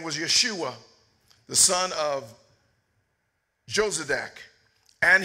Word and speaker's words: Yeshua: mind one heart one purpose then stood up jeshua that's actually pronounced Yeshua which is the exact name that Jesus had amen his name wasn't Jesus that's a latinized that's a romanized name amen his name was Yeshua the son of josc and his Brethren the